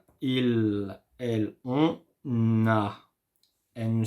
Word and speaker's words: ils: Ils ont, and the same way, elles ont. You see, when I do pronounce il, you don't hear the sound s. I don't say ils, no, I say il.